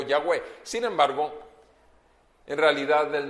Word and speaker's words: Yahweh: Y decíamos que la pronunciación más clara o más correcta sería Yahvé o Yahweh.